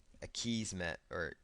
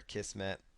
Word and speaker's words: Akismet: And then there's going to be another plugin here called Akismet, or Akismet, depending on how you want to pronounce it.